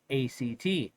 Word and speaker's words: ACT: acceptance and commitment therapy, ACT. A science-based approach with over 3,000 published studies that show its effectiveness. ACT, pronounced as the word act, was developed in the